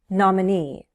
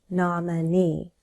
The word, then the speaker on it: nominee: Nominee. Nominee. Stress is on the last syllable.